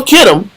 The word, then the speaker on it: Kittim: So Kittim is sometimes spelled with a K or a CH. It's still Kittim, okay?